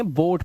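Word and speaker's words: boat: जब किसी वर्ड में ओ ए आए तो ओ ए को ओ से ही पढ़ना। ठीक है? जैसे ओ ए आया डरना नहीं है। बोट पढ़ना है। ओ से पढ़ना है।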